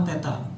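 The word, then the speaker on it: θ: Nah, ini theta bacanya ya.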